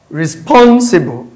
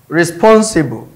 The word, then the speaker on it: responsible: So responsible. Responsible. So that is on which of the syllable does it stress? That is the one that is elongated. Responsible. That is option B. Responsible. So it is on the second syllable stress.